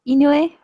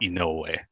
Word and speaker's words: Inoue: Sorry, the second question was how do you pronounce and my last name? It was Inoue, I think. I'm getting it right? No. No, okay. It's actually Inoue.